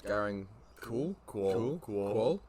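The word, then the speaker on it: Garang Kuol: You got to help me pronounce this. Garang Cool.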